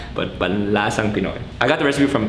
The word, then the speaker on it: Panlasang Pinoy: guys, I've been saying panlansang Pinoy means shibalakako. Panlansang Pinoy! Sorry. Sorry, panlasang Pinoy. I apologize for saying panlansang all the time, but panlasang Pinoy.